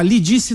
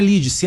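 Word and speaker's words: Lídice: Não, eu pedi respeito à deputada Lidice não é Lidice, é Lidice, a pronúncia correta.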